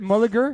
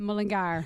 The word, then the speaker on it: Mullingar: Is it Mulligar? How do you say it? Mullingar.